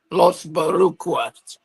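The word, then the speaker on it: Los Boricuas: or Los Oh, Barucas, Los Barucas. wow. Okay. Not like correct That's pronunciation.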